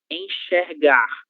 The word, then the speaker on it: enxergar: Uma palavra na qual a letra X aparece depois da sílaba em. A palavra enxergar. Enxergar. Que que ele é a mesma coça queber na coça. Ok. Enxergar. Letra X com som chã.